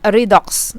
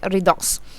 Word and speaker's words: redox: hear people mention it i pronounce it as red dots also because they follow the pronunciation for re reduction like that but redox okay redox so redox is the